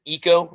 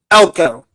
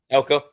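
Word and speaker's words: Elko: Um, but yeah, I think they're they still have, you know, is it Eco? Is that how you pronounce their coach's last name? Elco. Elco.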